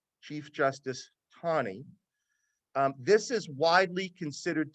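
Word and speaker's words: Taney: by Chief Justice Tani it's pronounced Tawny but it is spelled t-a-n-e-y chief justice Tawny um this is widely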